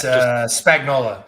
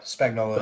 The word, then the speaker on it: Spagnola: The SEMA president and CEO, Mike, I don't know how to say his last name. Oh, it's Spagnola. Spagnola is his name.